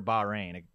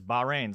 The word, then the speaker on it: Bahrain: that keeps coming up everyone says it's baja rain like the baja men but ba like or bach reign so okay hey how's